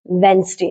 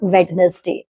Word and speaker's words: Wednesday: There are some words in which D is silent, but there is no fixed rule for them, like sandwich, not sandwich, Wednesday, not Wednesday, handsome, not handsome.